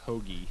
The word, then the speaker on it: Hoge: it both ways but I did find out a couple weeks ago it is Hoagie Hoagie shout out Hoagie h-o-g-e's pronounced Hoagie does he have a